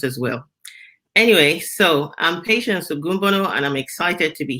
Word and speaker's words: Patience: different things and so i heard you say patricia so i just wanted to say my name is patience and the goomba part